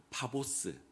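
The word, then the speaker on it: 파포스: 이곳에 가서 사역을 하고 입 있는 부분 입부을 바보 이렇게 부릅니다. 우리는 바보 그러면 기분이 나쁜데 원래 발음은 파보스. 바보스라고 하는데 번역을 바보라고 했어요. 그래서 우리가 생각하는 그 멍청이 바보 말고 그냥 지명이 바보다.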